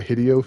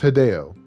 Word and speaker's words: Hideo: i think is hilarious his name is hideo it's not hideo but because he replaced video with hideo everyone thought his name was hideo you know that's that's